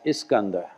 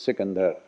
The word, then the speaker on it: Iskandar: the Persian culture as Iskandar. Went further north up into Central Asia and become Iskandar. And even today the word slightly mispronounced is used as Sikandar.